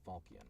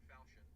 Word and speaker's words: falchion: I think it's Falkian, but I want to make sure. Save me. Save me, Euclid, remind me. Sword or falchion. Falchion, that's what it was.